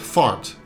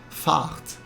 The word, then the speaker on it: Fahrt: But it's not pronounced as the English word fart. The A sound is actually a bit longer, so it sounds more like fart.